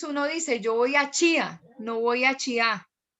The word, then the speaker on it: Chía: Las palabras que normalmente vienen de las tribus indígenas del altiplano cundiboyacense siempre tienen el acento sobre la primera sílaba, nunca sobre la segunda. Uno, por ejemplo, habla del zipa, no habla del zipá. Uno habla de chía, no habla de chiá.